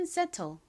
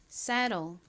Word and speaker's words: settle: 한국식으로는 settle, 그리고 미국식 원어 발음으로는 saddle 이라고 발음합니다.